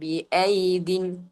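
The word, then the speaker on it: بِأَيْيدٍ: അപ്പൊ ഇവിടെ നമ്മൾ ഉച്ചരിക്കുമ്പോൾ വസ്സമാഅ ബനൈനാഹ ബിഐദിൻ, ബിഐദിൻ രണ്ട് യാ ഉണ്ട്, പക്ഷെ അതിൽ രണ്ടാമത്തെ യാഇന് മുകളിലായിട്ട് എന്താണ് അടയാളം? ആ ഒരു ഉച്ചരിക്കാൻ പാടില്ല എന്ന് കാണിക്കുന്ന സുക്കൂന് വന്നതുകൊണ്ട് നമ്മൾ രണ്ടാമത്തെ യാഇനെ ഉച്ചരിക്കാതെ ശേഷമുള്ള അക്ഷരമായ ദാലിലേക്ക് ചേർത്തു പറയുന്നു.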